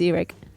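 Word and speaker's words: Irek: Can we start with Is it pronounced Eric? Yes, it's Eric.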